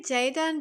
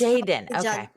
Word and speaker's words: Jadon: I say Jayen, but it's Jaden. Jadon.